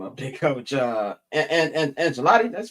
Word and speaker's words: Ancelotti: And Ancelotti, that's pronounced it? Ancelotti.